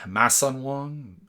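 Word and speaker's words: Masson-Wong: Mason Wong. It's the French pronunciation.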